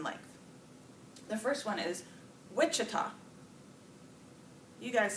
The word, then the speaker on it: Wichita: in there all different so where's Wichita Wichita first syllable position well we're going